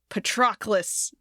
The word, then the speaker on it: Patroclus: Patroclus is how they say it. I don't know. I really thought I'd heard Petrocles or something closer to that, but I don't know, man.